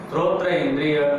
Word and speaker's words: श्रोत्र: ये सोत्र, सोत्र तुम इतने मतलब उच्चारण करना भी नहीं सिखाया तुमको, क्या है इंद्रिय का नाम, श्रोत्र इंद्रिय, कभी भी उच्चारण गलत नहीं करना है, जबकि हमने बता दिया है एक बार में, क्या है वो, श्रोत्र इंद्रिय। हाँ, कभी भी गलत नहीं निकलना चाहिए, श्रोत्र इंद्रिय, ठीक है ना।